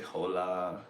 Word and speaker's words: hola: hes so they say hola and I can't think of another word but whatever they see a h and they say a h instead of leaving it silent but the biggest problem